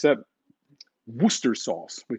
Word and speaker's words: Worcester: It's a Worcester sauce. We call it Worcester. And there's a place in the US called Worcester, Massachusetts.